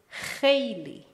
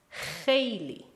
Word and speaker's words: خیلی: This word is خیلی. خیلی. Please pay attention to the pronunciation. The first letter is خ, which does not exist in English.